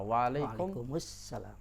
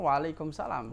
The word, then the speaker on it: Waalaikumussalam: deh masalah jawab salam kita sudah ucapin dengan benar Assalamualaikum kemudian jawabnya apa Waalaikumussalam awal dia orang jawabnya Waalaikumsalam ya banyakan kan padahal Waalaikumsalam itu terputus harusnya mereka mengucapkan waalaikummussalam